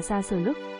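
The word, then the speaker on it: шашлык: có dùng qua món thịt nướng, tiếng Nga phát âm gọi là xa sờ lức, người chúng ta gọi là thịt nướng cừu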